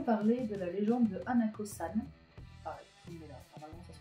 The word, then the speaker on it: Hanako-san: Ensuite, nous allons parler de la légende de Hanako-san. Pareil, normalement ça se prononce comme ça.